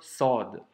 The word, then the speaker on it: ص: Pour la prononciation, ça se prononce avec emphase. Ça signifie que la lettre c'est une grosse lettre, entre guillemets, c'est comme un grand S. Et quand tu la prononces, le son doit remplir toute la bouche. Et donc ça nous donne le son sod. Tu vois, c'est pas c'est so, un gros son.